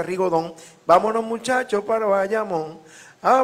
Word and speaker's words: rigodón: rigodón o ri gaudón que es como se escribe en francés pero se pronuncia rigodón Vámonos muchachos pero vayamos